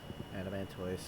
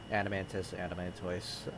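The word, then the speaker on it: Adamantoise: It's pronounced either or. Adamantois. I pronounce it Adamantois because I pronounce turtoise. I know that like there are a lot that say Tertus instead, right? Which just sounds weird to me, but at the same time, that is technically a correct way to say that word as well.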